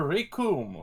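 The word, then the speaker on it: Recoome: And Krillin will be more prepared for Rikum, whose name rhymes with Doom.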